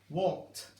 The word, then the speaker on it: walked: Walked. It remains as 1 syllable.